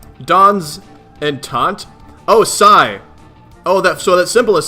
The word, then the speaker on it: Psi: How is this pronounced? Dawn's intent? Oh, Psi. Oh, that symbol is Psi.